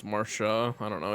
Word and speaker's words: Marcia: The little boy said Marsha and it's Marcia, right? It's I guess it's Marsha.